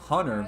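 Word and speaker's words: Huerter: I guess they pronounce his name Hunter, but it looks like Huter.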